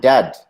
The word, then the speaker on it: dead: And dead, it's like bed, not bead. And for goodness sake, don't call it deed.